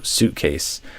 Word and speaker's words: suitcase: So suitcase. Uh first of all, not sweet or something like that, but think of the ui letters as really just a oo sound.